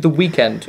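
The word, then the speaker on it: The Weeknd: This this featured the weekend or weekend. The weekend. Well, no, it's it's actually spel weekend. He has said that you pronounce it the weekend.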